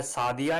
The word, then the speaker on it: Sadia: अस्सलाम वालेकुम प्यारे व्यूअर्स, आज का नाम है सादिया। इंग्लिश में इसके स्पेलिंग बनते हैं SADIA।